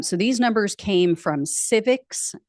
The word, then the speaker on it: Civiqs: these numbers came from Civics which is spelled civiqs um this is the